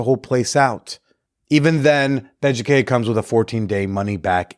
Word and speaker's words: Beducated: Beducated. It's spelled like educated, but with a B, because, it's for stuff in the bedroom.